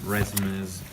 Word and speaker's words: résumé: So you used some props like your laptop, some resumes. This word is pronounced resume. Yeah, RCB.